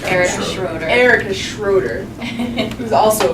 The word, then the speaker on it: Erica Schroeder: Next to him, we have, you gotta give me the proper pronunciation. Erica Schroeder.